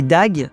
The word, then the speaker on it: Doug: L'un se nommait Dag, donc ça s'écrit Doug en fait, et l'autre se nommait Dave.